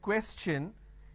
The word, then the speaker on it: question: is sure sound no when i have the word question the t i o n becomes chu na so it becomes question all right so